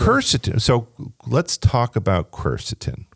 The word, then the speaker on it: quercetin: 10 years ago curs so let's talk about cerstin cerstin it's spelled q r c t i n right